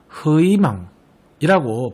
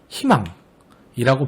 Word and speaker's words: 희망: 가령 여기 제시되어 있는 단어인 희망의 경우 억지로 흐이망이라고 발음하는 것이 아니라 희망이라고 발음하는 것이 오히려 원칙이라는 것이죠.